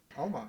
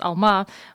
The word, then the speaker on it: Alma: current Venture which you're doing tell us about Elma yeah yeah happy to uh so first of all Alma for uh your listeners from Central Asia actually pronounce Alma but um you know as as your listeners